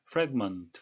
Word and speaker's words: fragment: 예 이것은 또 명사로 들 수 있는데 명사의 발음은 Fragment 되겠습니다 그래서 명전 동후라이팬 the Cloud fragmented 예